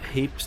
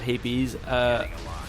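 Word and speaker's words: Hapes: weren't a single battle Pronunce hate heaps not hippies. I say I Say hey P's, I think but I think it is Apes Well, they will hyperspace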